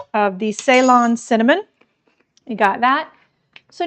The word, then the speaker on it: Ceylon: It is Ceylon, like S-A-Y, only it's C-E-Y.